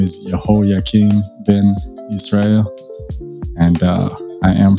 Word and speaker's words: Yihoyakeen: Okay, so Yihoyakeen is the way that it's pronounced, and it means the Creator shall prepare the way.